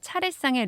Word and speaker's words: 차례상: 차례상 할 때 그 발음이 차리에 쌍이어서 리에다가 시옷 받침을 써야 되나 좀 헷갈리기가 쉬운데 받침 없이 그냥 차리에 상으로 쓰고 발음은 차례상 이게 맞습니다.